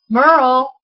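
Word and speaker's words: Myrel: I know Merle, and her name is spelled M-Y-R-E-L, is a Cricut expert.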